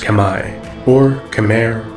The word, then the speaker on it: Khmer: The Khmer, correctly pronounced Khmer, or Khmer in English, are an ancient people whose culture became heavily Indianized in the region's prehistory.